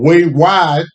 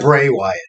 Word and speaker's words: Bray Wyatt: uh yeah way wide say his name again Bray Wyatt Drake Bray Wyatt I've been calling the way all day yeah every time I